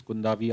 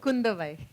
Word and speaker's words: Kundavai: So obviously you're playing Princess Kundavi. I hope I got the pronunciation right. Kundavai. Oh, Kundavai. I'm so sorry for that.